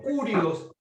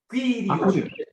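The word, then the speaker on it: κύριος: No, curios, quirios, quirios. Mucha gente pronuncia Q, no Q, quirios.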